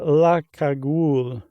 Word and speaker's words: La Cagoule: Uh there was an alt-right group in the 30s called uh how would you pronounce that, Josh? Uh La Cagoule.